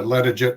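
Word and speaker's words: Latarjet: Yeah, that's correct pronunciation. A ladder jet procedure is from it's a French technique that was refined in France and has gone around the world.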